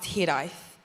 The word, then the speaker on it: hiraeth: There's a word in Welsh pronounced hiraeth, which means to long for a place that may have never been.